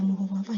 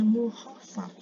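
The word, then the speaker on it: مخفف: Tapi di sini tidak dibaca mukhafafah ya, dia dibacanya mukhaffaf. Ini hampir sama dengan kata mukhaffaf ya.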